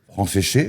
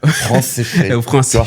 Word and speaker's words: Franceschet: Euh, Fran séché, alors pour prononcer mon nom, tu penses à France mouillée. France séché, voilà, c'est tout simple.